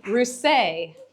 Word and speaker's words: Rousset: Let's move on to Jeff Rousset. The T is silent.